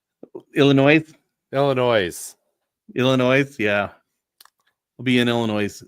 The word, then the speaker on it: Illinois: You didn't pronunciate the S. Illinois.